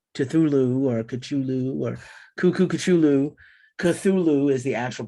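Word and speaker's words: Cthulhu: the final track on the album proper is katulu i know it's pronounced you know thulu or kachulu or kukukuchulu cthulu is the actual pronunciation wow lovecraft but he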